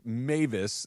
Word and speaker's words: Mevis: So Harrison, I believe it's pronounced Mavis, although it's spelled Mevis. So I'm going to go with Mavis because that's what I've heard online.